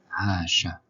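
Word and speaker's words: عاش: Donc on voit le shin à la fin, sa forme isolée parce qu'elle suit un aleph, qui est une lettre spéciale, une lettre non liée à gauche, avec une voyelle brève fatha, ce qui donne Asha, il a vécu.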